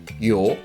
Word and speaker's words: 요: this as for me the last syllable sounds like you know you is the thong that means your sounds start from very short and unclear why sound and move on to the next sound or like yo yo